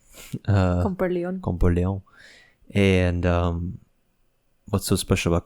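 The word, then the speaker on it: Comporellon: I mean, you're adding a little extra sazon, pero but it's Comparleon. Comparleon.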